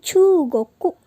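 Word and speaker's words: 中国: Gimana cara pengucapan Cina? Yaitu Chugoku. Nah, di sini ada kata cu-nya itu panjang karena ada u lagi. Jadi Chugoku.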